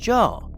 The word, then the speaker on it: Zhao: ISO's real name is Li Xiao's Yu, and Zhao is actually pronounced Joe.